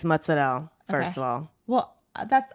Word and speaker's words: mozzarella: a paraphrase cheese mutts i say mozzarella and joe joe and jess of all people is like what that's not how you say it what she licked me oh i hate when dogs like that you just say mozzarell yeah like as if you are you randomly gained an italian accent it's just her father